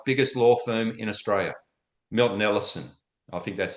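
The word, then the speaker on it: MinterEllison: Minter Ellison. I think that's how you say it. Minter Ellison, yeah.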